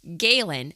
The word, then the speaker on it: Galen: That's how we've been saying it. Are we saying that correctly? You are. Okay, good. Because we struggle with that. Name pronunciations. We are not going to say we're pros at that. You know, I wasn't either. I was writing his name and I was calling him Gallen for a while and then